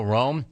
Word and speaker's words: Rome: stupidity ignorance illiteracy well I don't know Rome it rhymes with foam right but it's spelled differently